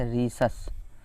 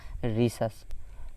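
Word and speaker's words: Rhesus: उस मंकी का नाम किससे शुरू होता था, RH अर्थात रीसस। ध्यान रखिएगा उसका नाम क्या था, रीसस। तो यहाँ पे H साइलेंट है, तो इसका रीसस जो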